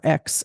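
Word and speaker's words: Aix: called X and provance or X as as the locals call it locals did it X is uh spelled a iix but they pronounce it X like your ex-boyfriend or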